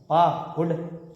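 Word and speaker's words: पाहुड: है उसम है ना पाहु बोले पाहु पाहु नहीं पाहु पा हुड सरल सा है पा हुड पा और थोड़ा प्रयास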